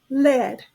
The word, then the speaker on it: led: is also pronounced as lead it's a verb it rhymes with bed lab bed our volleyball